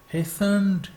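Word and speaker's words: hastened: When he हेस्टेंड टू the girl, जब वो जल्दी से लड़की की तरफ लपके। हेस्टेंड, हेस्टेंड, यानी टी यहाँ साइलेंट है।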